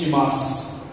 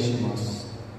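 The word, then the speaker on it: します: Because in Japanese the last SU is pronounced S. So that's why it is shimasu.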